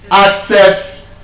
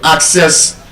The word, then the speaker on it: access: That word as a noun and as a verb is stressed on the first syllable.